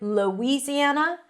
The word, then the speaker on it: Louisiana: I think that's easier because of the spelling, just to think of it as an oo sound. But if you hear Louisiana, that's fine.